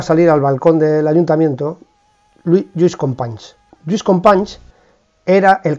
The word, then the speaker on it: Lluís: pues pido disculpas, pero lo voy a intentar decir como él me ha aconsejado, que es metiendo la ñ, ya me cuesta, ¿eh? Lluís Companys, como decimos, llega al edificio del ayuntamiento, permítanme la broma, por favor.